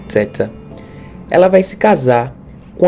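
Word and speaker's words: Ceca: etc e ata teta que escreve cessa mas se pronuncia teta ela vai se casar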